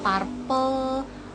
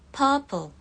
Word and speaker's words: purple: Warna tapi banyak yang masih bilangnya purple, purple, purple. Sebetulnya ini tuh dibacanya kalau British ya purple. Purple, jadi nggak A, nggak purple, cuma purple. Purple. Untuk American sama aja, cuma tengahnya R-nya agak dibaca sedikit purple. Purple.